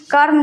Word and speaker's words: कर्म: कर्म में यानी कि कर्म जब हम बोलते हैं तो यहां पर म से पहले उच्चारण आता है यहां पर र का म से पहले उच्चारण र का आता है कर्म धार्मिक कर्म धार्मिक